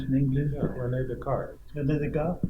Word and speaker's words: Descartes: I don't know, Descartes, how do you pronounce in English? Yeah, René Descartes.